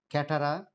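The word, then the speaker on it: catarrh: Catara, CATTARAH. CATTARAH. You can spell it as catara.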